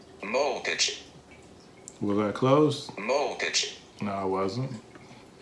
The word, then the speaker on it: molcajete: And I am going to try to pronounce it, molcajete. So after my crude pronunciation, I'm going to give you guys the proper pronunciation courtesy of the iPad. Molcajete.